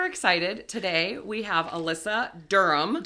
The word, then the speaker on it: Durham: Today we have Alyssa Durham. Durham.